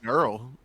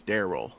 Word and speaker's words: Daryl: yeah Psych is uh durl well he says his name is durl his name is Daryl oh he pronounced it durl yeah yeah I hope